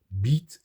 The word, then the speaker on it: bite: And the same thing with bite. It was beat, Beet, beat. It changed to bite, right?